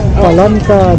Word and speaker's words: palanqueta: I'm not sure if that sounds good, like piñato, but how do you pronounce it? Palanqueta.